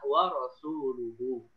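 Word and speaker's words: وَرَسُولُهُ: Rupanya yang benar bacanya adalah wa rasuluhu.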